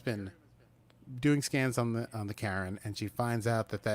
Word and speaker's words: Charon: They're pronouncing the ship Karen, not Charon, and not Sharon, which I would say.